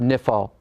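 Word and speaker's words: niphal: hiphil stem recall that the nifal stem prefixes a noon to make the verb nifl that's why we call it nifl notice the noon or the n in the pronunciation of the word in the hiel the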